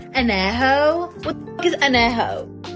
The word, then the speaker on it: Añejo: least you can do is learn how to pronounce the tequilas correctly. Blanca, Reposado, Añejo. What the fuck is Añejo?